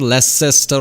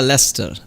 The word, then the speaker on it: Leicester: is it it is less than it's not less cester or something yeah lester lester yeah booster gloucester yeah leicester worcester gloucester